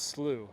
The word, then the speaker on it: Slough: Because I didn't want to pronounce it wrong, you know, like be slow or slow or whatever. He was like, no, it's Slooh.